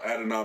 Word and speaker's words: Adonai: wide receiver, I do not know how to pronounce his first name, Adane Mitchell. Adonai Mitchell.